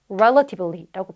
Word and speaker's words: relatively: 오늘은 답이 아니지만 앞으로 답으로도 잘 출제되고 오답으로도 출제되는데 발음이 re가 아니라 relatively라고 발음하고요.